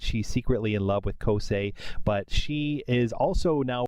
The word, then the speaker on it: Kousei: quickly explain that I was told that I'm mispronouncing some of these character names so I know that is now Kos and not kosai I was saying kosai and that it's kri